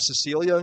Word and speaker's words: Cecilia: at least illuminated me the uh soft C first name of Cecilia, which he also astutely points out not many ball players with that name.